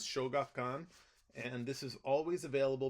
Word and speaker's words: Shogakukan: The Japanese one is, I think the pronunciation is Shogakukan, and this is always available because books are easier to find in Japan.